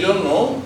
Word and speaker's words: Jean: French poet, French বানান, সেই জন্য উচ্চারণটা স্পেলিং এরকম হবে JEAN, কিন্তু উচ্চারণ হবে জাঁ নিকোলাস আর্থার RIMBAUD, উচ্চারণ হবে র্যাবো।